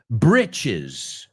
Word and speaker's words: britches: But in American English, we say britches.